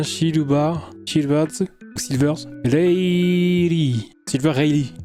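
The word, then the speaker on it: Rayleigh: Riley. On prononce Ry en fait.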